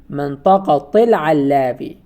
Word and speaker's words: منطقة: But sometimes we pronounce it منطقة or Medina, but in some context we have to pronounce it منطقة. Sometimes we attach this noun to other noun. For example, in this context we attached it to Alawi. منطقة العلاوي. In this context we have to pronounce تاء التأنيث.